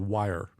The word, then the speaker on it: Wire: The other app the other solution is called Wire, like the word wire.